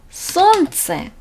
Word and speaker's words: солнце: 눈, солнце, солнце. 여기서 보면은 엘렌이 같이 있는데 이 르 발음은 안 나요. 그냥 солнце.